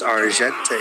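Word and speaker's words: Argenté: It's Argente.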